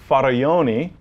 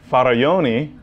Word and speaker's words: Faraglioni: So when I try to find a particular image, I'm looking for the Faraglioni. Sorry, I just had to pronounce.